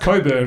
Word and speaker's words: Cockburn: It's pronounced Coburn, but it's spelled Cockburn.